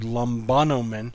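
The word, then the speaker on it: λαμβάνομεν: But you'll pick it up, and you'll see the word lambanomen, and we can break it up into syllables. The first syllable is lam, ba, no, men.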